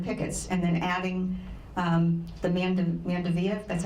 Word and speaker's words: Mandevilla: here in the pickets, and then adding the Mandevilla, that's how you pronounce it.